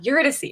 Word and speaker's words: Eurydice: I just have to think of like how Orpheus says it in the play, and then I'm like, Eurydice.